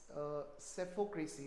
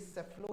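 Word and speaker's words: psephocracy: देखो ये सेफो है, पी हैज टू be silent over here, this is सेफो नॉट सेफ्लो, इट इज।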